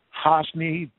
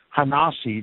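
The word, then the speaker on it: ha-Nasi: a space nasi hyphen th e space Prince hosny not excuse me i'm pronouncing it wrong ha nah see the prince okay Babylonia remained his center of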